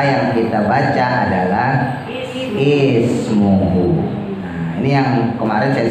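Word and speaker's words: اسمه: Maka dibacanya bukan asmuhu, bukan usmuhu, tapi ismuhu.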